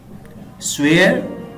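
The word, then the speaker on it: swear: Friends, अगर किसी word के एंड पे रा साउंड आए, आर जो लेटर है ये आए, तो वो नॉर्मली प्रोनाउंसिएशन में प्रोनाउंस नहीं होता। जिस तरह ये है स्वेयर, अब देखिए एंड पे मैं रा साउंड प्रोनाउंस नहीं कर रहा।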